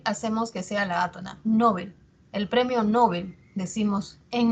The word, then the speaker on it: Nobel: Ahora, es palabra aguda en sueco, o sea, se pronuncia Nobel.